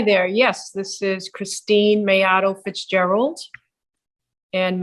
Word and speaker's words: Maiato: name yes hi there yes this is Christine mayato Fitzgerald and mayato I I assume you want me to spell that that's the tricky one it's m as